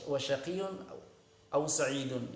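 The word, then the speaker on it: وَشَقِيٌّ أَوْ سَعِيدٌ: Ya, semuanya di kasrah ya, tapi wasyaqiyun aw sa'idun. Ini di rafa' ya, di dhammah. Demikian cara baca yang benar.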